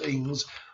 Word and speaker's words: Inge: a threat to Inge, as Ings, how it's pronounced, as Underwood claimed.